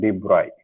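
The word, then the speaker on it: de Broglie: ठीक है, इसका नाम तो डी ब्रोगली है इसको, लेकिन पढ़ते हैं हम लोग डी ब्रॉय, डी ब्रॉय, BROY, ये है इसका प्रोनाउंसिएशन है।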